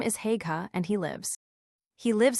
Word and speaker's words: Haigha: His name is Hega. He pronounced it so as to rhyme with mayor.